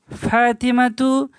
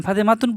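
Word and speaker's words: فاطمةُ: এবং আমি আপনার পুত্র ফাতেমাতু দেখেন তু বললাম ফাতেমাতুন বললাম না কারণ সিঙ্গেল মেয়ে ছেলেরা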